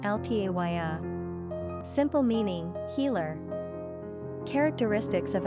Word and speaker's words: Althea: Number of syllables, 3. Ranking popularity, not applicable. Pronunciation, Althaía.